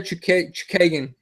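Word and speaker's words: Chookagian: Lucky Lauren Murphy against Caitlin Blonde Fighter Chukagan.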